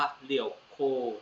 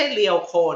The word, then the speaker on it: 旅行: ก็ มี คำ ว่า เรี่ยว โค นะ ครับ ไม่ ใช่ เรวโค นะ ทุก คน เรี่ยว โค การ ออก เสียง นะ ครับ เรโค สั้น ๆ เรโค สุรุ มี ความ